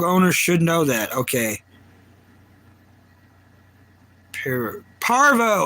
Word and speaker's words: parvo: Parvo. I said it wrong. I was saying Polarivirus.